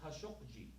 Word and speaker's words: Khashoggi: We're shocked by the killing of Jamal Khashoggi. That's how you pronounce it.